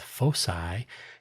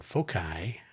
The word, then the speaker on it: foci: with our own Now, you may pronounce this word one of two ways. I'll do both, foci and focai.